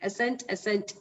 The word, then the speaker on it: assent: So there's a difference in pronunciation of the third one, whereas the first and the second one, they more or less sound same. Assent, and accent.